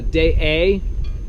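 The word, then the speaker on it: Deshaies: So this morning we're at the harbor in Day A. It's spelled Deschales, and that's how we say it, but it's actually in French Day A.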